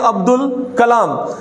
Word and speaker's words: عبد الکلام: قمری کا ہے، اور حروف قمری کے اندر الف اور لام بولتے ہوئے تلفظ کے اندر باقاعدہ طور پر یہ ادا کیا جائے گا، تو ہم اس کو کہیں گے عبد الکلام۔ اب دیکھیے گا یہاں